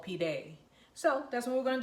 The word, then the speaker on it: pide: not a it's spelled I guess it's like the Spanish e p day P day so I need to